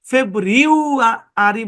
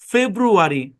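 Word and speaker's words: February: আপনি যদি এটাকে ফেব্রিউ আরি বলেন তাহলে কঠিন। সব রুলের বাপ রুল কি উচ্চারণকে সহজ করো, এখানে সহজ সাউন্ড অ্যাপ্লাই করা পসিবল না। এই জন্য এটাকে ইউ এর সাউন্ডটাকে উ দিয়ে পড়া হচ্ছে আর কি।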